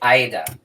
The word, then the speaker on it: Aida: end up yup see cuz a lot of people say hey it up no I need it yeah it's Aida it is either it is either so